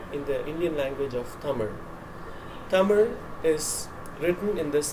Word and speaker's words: Tamil: the Indian language of Tamil. Tamil is written in this manner, and most English or non-Tamil speakers pronounce it as Tamil with an L ending, because Tamil, in my